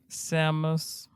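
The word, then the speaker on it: psammous: Second word, Samus. I'll just say the P is silent.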